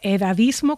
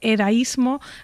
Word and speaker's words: edadismo: Se dice edadismo con 2 Ds, no se dice edaísmo, tampoco, aunque se dijo en un tiempo ageísmo, de age en inglés, aunque desde luego este edadismo está reproduciendo una palabra del inglés, ¿no?